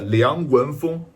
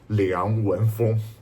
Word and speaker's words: Liang Wenfeng: At a recent invest meeting, founder Liang Wen-feng, this is the accurate Chinese pronunciation, Liang Wen-feng, spent nearly 4 hours frankly responding to all the questions almost that outside world really concerned about.